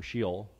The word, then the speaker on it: Sheol: So in Hebrew, they would use the word Sheol. Or Sheol, depending on, you know, if you want to say it right.